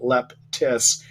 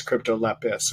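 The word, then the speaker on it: Cryptolepis: find crypto Lepus later I wanted to spell it for you it's a see ryp tol EP is there's not a T in there that as there's not a it's not Leptis it's crypto Lepus okay so if you're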